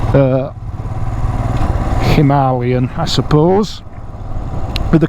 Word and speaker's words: Himalayan: instantly recognizable Royal Enfield Himalayan uh Himalayan I suppose with the correct pronunciation cuz that's how they pronounce it in India and that's where the